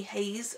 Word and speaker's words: Heize: high is it oh quit haze which is spelt hei ze haze uh Oh hazel how